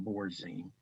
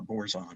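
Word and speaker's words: Borazon: Okay, where CBN is basically made out of borzine. Or borzon, I'm sorry, mispronounced it.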